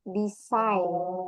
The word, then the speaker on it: design: ada silent G. Silent G ini berarti J-nya itu nggak ada. Misalnya nih, Sign. design, bukan desain gitu bukan ya, tapi desain tipis, kolon, campaign gitu, jadi tipis gitu. Itu G-nya nggak ada.